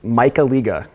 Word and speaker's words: Michaliga: here it is again my name is Michael eegah you take the leak apart out of the